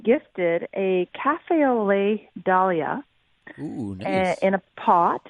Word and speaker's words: Dahl: And I love the way you're pronouncing dahlia, not dahlia. Oh, I didn't know. Well, it was named after a gentleman named Dahl, D-A-H-L. Mm-hmm. And so his name wasn't Mr. Dale, it was Mr. Dahl.